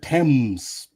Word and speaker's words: Thames: Oh, they pronounce it Thames.